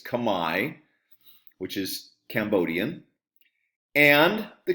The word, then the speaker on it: Khmer: The Austro-Asiatic Family, which is Vietnamese and Khmer, it's pronounced "Khmy," not Khmer, okay? It's "Khmy," which is Cambodian.